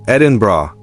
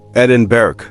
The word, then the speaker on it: Edinburgh: Its capital is Edinburgh, pronounced Edinbra, not Edinberg.